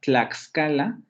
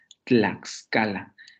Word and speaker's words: Tlaxcala: La palabra Tlaxcala tiene dos consonantes tanto en el ataque como en la coda de la primera sílaba. Tlaxcala.